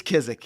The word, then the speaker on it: Kizik: Because I don't want to put the wrong emphasis on the wrong syllable. Fastest. It's Kizik.